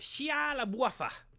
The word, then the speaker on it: Shia LaBeouf: Shia LaBeouf.